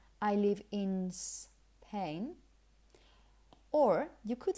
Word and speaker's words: Spain: So you should say Spain. Let me give you a tip to pronounce this properly, especially if those words come after another word.